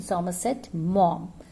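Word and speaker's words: Somerset Maugham: mom how's the pronunciation what's the pronunciation summer set mom again summer said mom revolves around the youngest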